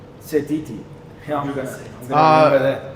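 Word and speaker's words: Sititi: He hasn't had as big an impact as Wallace Satiti. So I'm going for Satiti. Who's Titi? What? Wallace Satiti. Is that how you pronounce his name? Setiti.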